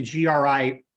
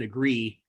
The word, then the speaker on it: GRI: you and just like just like the gri we don't pronounce it agree we don't we don't